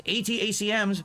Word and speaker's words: ATACMS: right now that key and this how you pronounce it um known as atacms for Army tactical missing system American official and